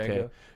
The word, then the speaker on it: Django: Django.